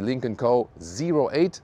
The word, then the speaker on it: Lynk & Co: Let's go with the Lincoln Co.08. That's also how you officially pronounce it.